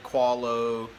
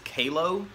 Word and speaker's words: Qalo: to pronounce their name i said qualo all these other kind of things i think the correct pronunciation is kalo or something like that these guys here um